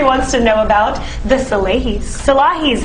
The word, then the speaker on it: Salahis: No, Salahis correct.